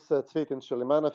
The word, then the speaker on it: Cvetin Chilimanov: My name is Cvetin Chilimanov. It's a bit difficult to pronounce, being a Macedonian name and all.